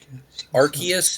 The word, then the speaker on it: Arceus: Arceus is the canonically correct pronunciation.